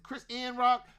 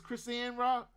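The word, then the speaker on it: Chrisean Rock: Yeah, it's it's Chris Ann Rock. That's how you say her name. It's Chris Ann Rock.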